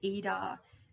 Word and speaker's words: Ida: on um what's called the eda nadi and which is pronounced which is spelled ida and the pingala which